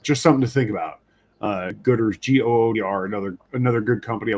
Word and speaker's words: Goodr: would recommend looking into a company called Gooder. It's spelled Goodr.